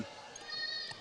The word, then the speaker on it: Kenyale: I always want to say lay at the end of it because I don't know why. Every I'm going time. with Lee. It is Lee.